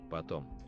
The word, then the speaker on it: Потом: Потом. Потом. So, Потом. stress on the second syllable.